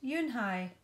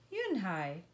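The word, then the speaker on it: Unhei: Kim then turned to Joey she nodded slowly yes it's pronounced you and I and it means grace mr. Kim added you Dan hi Joey said slowly and this time perfectly it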